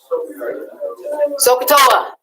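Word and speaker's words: SOHCAHTOA: heard somebody say it sokatoa that's how you say it but if you can't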